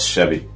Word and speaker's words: SHEAVY: S-H-E-A-V-Y. I'm going to pronounce it like that until somebody corrects me. But I think it's called SHEAVY. It's pronounced SHEAVY.